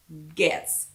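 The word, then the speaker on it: Goetze's: g-o so this is gets g-o-e g-o-e-t-z-e gets candy so it's spelled like go it's whatever but it's pronounced gets g-o-e-t-z candy yeah super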